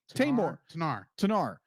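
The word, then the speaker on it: Tenar: And then she was raised by how do you pronounce her name? Tanar.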